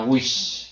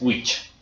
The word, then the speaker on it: which: Si fuera la S fuera wish, que sería lavar. Y no sería la pregunta que es which, que es un poquito más frenada.